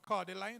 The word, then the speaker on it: cordyline: how you pronounce it, cordyline, that's how you pronounce it.